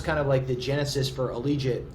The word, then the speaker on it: Allegiant: So we played USC football, and that was kind of the genesis for Allegiant. Rhymes with collegiate.